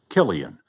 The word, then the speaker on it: Cillian: was the year the world learned to pronounce Killian the ancient Irish name seemed to be on